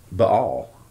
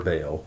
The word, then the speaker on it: Baal: And worshiped all the host of heaven, and served Baal, or Baal, however you pronounce it. When a grove's being mentioned, it's going to be Baal, or Baal, Baal. It's pronounced both ways.